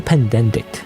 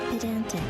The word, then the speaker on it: pedantic: But everyone, I don't say everyone, the the people who commented anyway were so pandicked, you know, pandentic.